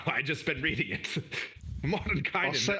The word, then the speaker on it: Mordenkainen: Mordenkainen. I'll say it in my my English accent. It's Mordenkainen.